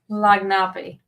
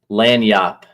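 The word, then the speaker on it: lagniappe: easy to pronounce. The Bayou. Yeah. Lagnapi.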